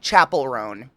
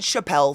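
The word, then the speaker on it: Chappell Roan: Nomine nominee Chappelle chap I always say her name wrong Chapel rone I said Chappelle for a very long time Chapel rone Katie 2 minutes till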